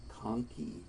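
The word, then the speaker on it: conchae: septum are the nasal coni and that's how you say that it's K and then key just like a key to a car is how you pronounce that second syllable so the nasal coni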